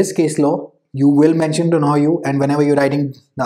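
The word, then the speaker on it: Donoghue: Yes, the pronunciation is Donohue versus Stevenson, so that you don't make an ass out of yourself like I have done in the past on YouTube.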